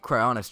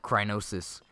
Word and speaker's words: Cryonis: God, saying it Cryonis just feels so weird. Because throughout my entire life I've called it Crynosis.